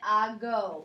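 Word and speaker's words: hago: If without the normal change, it would be ako, but it just sounds kind of funny. So they make it ago, makes it a little bit easier to pronounce, ago.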